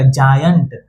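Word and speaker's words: giant: अब आते हैं जी आई एन टी। जी के बगल में कौन है? आई है। जी के बगल में आई है। इसलिए इसका उच्चारण ज से। तो जी आई एन टी क्या हो जाएगा? जॉयंट जी आई एन टी जॉइंट जॉइंट मतलब होता है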